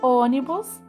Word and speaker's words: ônibus: E ônibus. A sílaba tônica está na antepenúltima.